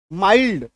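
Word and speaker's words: mild: भी इसको याद कीजिए जैसे एम आई एलडी माइल्ड है ना यह देखिए पहले एल है लेकिन य साइलेंट नहीं है ओल्ड डी से पहले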